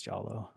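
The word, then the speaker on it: giallo: because I hate it is it jalo but like all the Italian horror movies not like the sound yeah oh oh is it pronounced jollo yeah I think it's jollo is it yeah that's how I've always heard it said so Bobo frizzy yes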